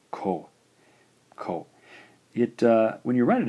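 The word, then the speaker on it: こ: All right, our final syllable in the K line is the combination of the K consonant and the O vowel. Gives us the sound ko.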